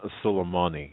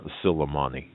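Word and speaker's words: Suleimani: for me please sure it's uh it's kasem sulaimani it's q-a-s-s-e-m like mary once again that's cassand uh kasem q-a-s-s and the last name is spelled s-u-l that's s-u-l e-i-m-a-n-i kasem silimani well i was way off okay yeah it's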